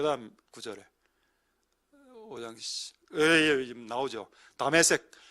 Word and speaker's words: 다마스쿠스: 다메섹, 여기 현대 발음으로 하면 다마스쿠스입니다.